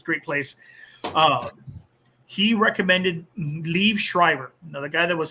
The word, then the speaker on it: Liev: Let me say Lee Schreiber. It's Liev, I think Liev Schreiber.